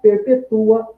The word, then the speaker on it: perpetua: Então, note que a posição da sílaba tônica na palavra, ela altera tanto a acentuação, a posição da acentuação, né, dos acentos, como a sua classe gramatical.